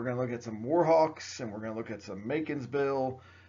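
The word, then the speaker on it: Macon's Bill: to look at some Macon'sville. It just rhymes with bacon.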